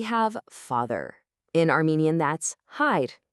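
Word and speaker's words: հայր: In Armenian, that's hide. It's pronounced simply as hide. It's just one quick crisp sound.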